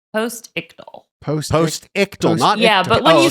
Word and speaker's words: postictal: It's spelled post I c t a l postal.